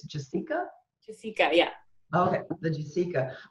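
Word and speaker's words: Jasika: I was calling it Jessica, and somebody recently told me it's Jessica.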